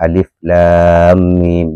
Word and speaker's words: Alif Lam Mim: Jadi, cara membacanya adalah "Alif Lam Mim." Bacalah persis seperti huruf-huruf itu sendiri.